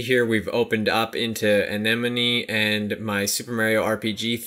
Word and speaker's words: Anemone: how to say it it's anemone it's like a sea anemone so I'm still no